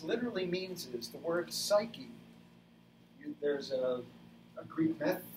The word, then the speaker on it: psyche: the greek words are suke that's how it's pronounced in greek in ancient greek we're talking about the